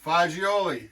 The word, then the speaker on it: fagioli: And that's because I work with Carlo Galazzo, and it was fagioli is bean in Italian. So I don't know why Americans, we always pasta fagioli, like they can't pronounce it properly.